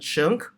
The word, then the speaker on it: Chun: is a common name Chun that's my family name um sometimes mispronounced by some students so um not that difficult uh you the sun name is quite common in Singapore so you just add a C Sound in front that'll be fine right